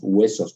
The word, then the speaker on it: huesos: Por más que escribamos huesos con H y digamos que hay que pronunciarlo así, todos reforzamos el diptongo con un elemento velar, huesos, virhues en vez de virus, ¿sí?